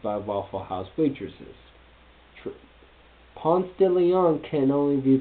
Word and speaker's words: Ponce de Leon: Ponce de Leon can only be pronounced like it is. Do not attempt the Spanish pronunciation.